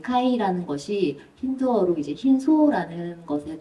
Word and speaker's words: 까이: 예, 약간 까와 카의 중간 발음인 카이라는 것이 힌두어로 이제 흰소라는